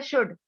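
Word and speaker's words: should: Next है शुड, शुड में जो एल है वो क्या है, एल लेटर क्या है, साइलेंट है।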